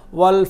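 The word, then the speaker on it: وَ: আপনি উচ্চারণ করবেন ওয়া খুব হালকা করে, যতটা পারেন আপনি, যত হালকা করবেন তত ওয়াওয়ের উচ্চারণের মানটা, স্ট্যান্ডার্ডটা অনেক বেড়ে যাবে, ওয়া ওয়া ওয়া।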